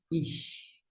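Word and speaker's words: אִישׁ: E aqui a gente vai ter um som de CH, e desta forma a gente vai pronunciar ish. Ó, ish, ish, ish é homem.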